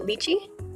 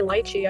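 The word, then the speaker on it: lychee: Liy, is that not how you pronounce it? I know some people say lichi. I just thought that was incorrect and they're choosing to be incorrect.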